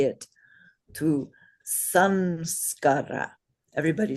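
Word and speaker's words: saṃskāra: So it's not just sa in this case, it's sam, because the anusvara is pronounced right?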